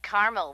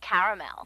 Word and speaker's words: caramel: that's what I said Tina actually you said Carmel when it's pronounced caramel can't we just call it yellow no everyone